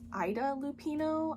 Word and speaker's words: Ida Lupino: I think I mispronounced her name. Apparently it's Ida Lupino.